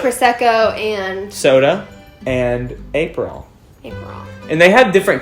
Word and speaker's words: Aperol: Aperol Spritz. Aperol? I always say Aperol, but that's not correct.